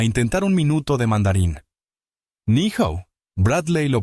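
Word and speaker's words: 你好: Ni hao. Bradley lo pronunció mal. La sala rió suavemente. Lucía no se burló. Corrigió con suavidad. Ni hao. Empuja el aliento.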